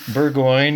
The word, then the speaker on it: Burgoine: And today we're talking about a bunch of books and writing and stuff with Nathan Burgoine. He tells us it rhymes with sirloin. So that's Nathan Burgoine.